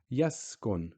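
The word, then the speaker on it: يسكن: Yaskun, same thing. Sin, sukoon, yaskun. We're not saying sa or su or si. We're just saying s.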